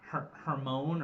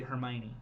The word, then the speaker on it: Hermione: Hermione I think I used to say when I was reading it her Hermon or her Heron but it's actually Hermione there we go we